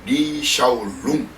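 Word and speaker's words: 李小龍: 그쪽 발음은 리샤오룽, 그리고 이제 영어 이름은 브루스리인데, 이미 고인된 무술 배우죠.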